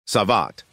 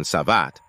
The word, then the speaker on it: savate: savat French pronunciation savat also known as French